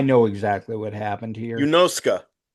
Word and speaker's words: Yunosuke: Yunosuka, by the way, that's how you pronounce that name. Ska, okay. When you have a Japanese name that ends Suke, Yeah, you don't draw it out like us Americans.